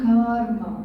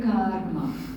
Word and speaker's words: karma: It's not karma. Okay? What is it? Karma. Only if you are having car trouble, I will allow you to say karma. Right? Then it is okay. Otherwise, the pronunciation is karma.